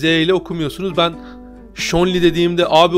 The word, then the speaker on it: Zhongli: Öncelikle şunu söyleyeyim, Zhongli değil. Zhongli falan değil. Hani okunuşu Shori. Okunuşu Shonli ya da Shori. Eğer ki Çince okuyorsanız oradaki ZH'yi Ç diye biraz böyle Ç ile Ş arası bir harf okuyorsunuz ama hani Çince ya